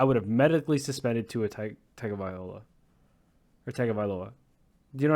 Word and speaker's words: Tagovailoa: have medically suspended Tua Tagavailoa. Or Tagovailoa. Do you know what I mean? Like, I think it's Tagovailoa is how you pronounce it, but I could be wrong. Tagovailoa, you're right.